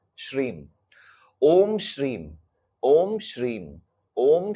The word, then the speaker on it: श्रीम: श्रीम M last में pronounce S एच R double E एम इसको कैसे बोलोगे श्रीम ओम श्रीम ओम श्रीम